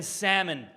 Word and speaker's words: salmon: There is a woman that comes through here who pronounces the L in salmon.